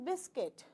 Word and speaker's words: biscuit: so it is sandwich same way it is not biscuit it is biscuit biscuit is that clear so it is going to be b i s then U is gone biscuit fine here you will